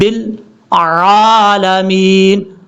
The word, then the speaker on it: العالمین: ہے لام کے بعد، لیکن لوگ کیا غلطی کرتے ہیں؟ رب العالمین پڑھ جاتے ہیں، رب العالمین۔ کتنی بڑی مسٹیک ہوتی ہے، ایسا نہیں کرنا۔ پڑھنے کا طریقہ کیا ہے؟ رب العالمین، عین کو کلیئر کر کے عالمین۔ اب اس کے بعد